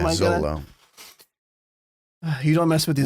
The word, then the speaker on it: Xolo: But his first name is how do you pronounce the X? His name is XOLO. It's like, is it Z? Is it Zolo? Yeah, Zolo.